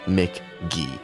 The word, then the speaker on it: MK.gee: And I should have checked his bio because on Spotify it does say right there. Pronounced MK.GEE. Mr. Michael McGee, very cool album.